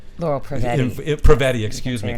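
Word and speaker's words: Prevetti: Pravati? Yes, she did, Yeah. which we were very grateful for. Am I allowed to say her name? Laurel Pravetti.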